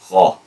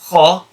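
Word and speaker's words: خ: The same articulation point as letter kha, where this letter kha is pronounced by lifting the back part of your tongue and firmly touching the back of the palate of the mouth, the soft part. Kha.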